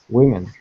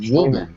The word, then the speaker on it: women: this m okay good say this word again okay women women correct women okay because you said it sounded like you said woman when you were reading women okay exactly